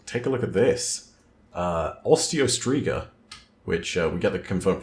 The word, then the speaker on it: Osteostriga: Osteostriga, which we get the confirmed pronunciation on that, thank God, I wasn't too far off.